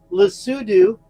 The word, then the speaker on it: Lesotho: I promise you I'm pronouncing it correctly. Lesotho and Eswatini, which I'm probably not pronouncing correctly.